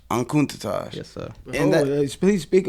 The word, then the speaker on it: Enkutatash: Your stories, and how do you pronounce the album that you say you got? ENKUTATASH. ENKUTATASH.